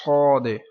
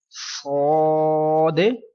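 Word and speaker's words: صاد: So next letter is Sod. This letter is musta'aliya letters and we will read in thick voice, and we will read this letter with kalkala.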